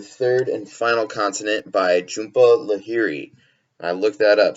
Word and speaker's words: Jhumpa Lahiri: to do the third and final continent by Jhumpa Lahiri and I've looked that up so I pronounced it right so overall this story for